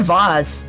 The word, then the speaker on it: vase: I said vase, but it's also vase. I don't know, I just swap between the two. Both pronunciations are correct.